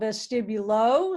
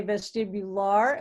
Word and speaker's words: vestibulo: vestibular ocular reflex here it's spelled vestibulo some people say vestibular lar ocular reflex just call it the